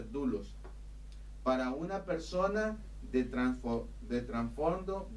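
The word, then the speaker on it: δοῦλος: u si el que se pronuncia dulos para una persona de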